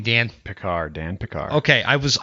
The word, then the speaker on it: Pickar: my friend dan say your last name dan picard dan picard okay i was i was gonna